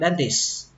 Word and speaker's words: dentist: Các bạn bỏ âm T đi cũng được, các bạn đọc là dentist. Dentist. Nhưng mà các bạn tuyệt đối không được bỏ âm S. Ví dụ các bạn đọc là dentist thì người ta sẽ không bao giờ hiểu được. Các bạn nhất định phải có âm S ở đây.